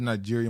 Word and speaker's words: Niger: they left I said Nigeria my bad I meant say Niger I'm saying that wrong apparently that's not how you say it but oh Shante